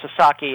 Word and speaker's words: Sasaki: And Joshu Sasaki, and I should make it clear, it's pronounced Sasaki, and Americans and Canadians sometimes have trouble with Japanese names, and it's very understandable.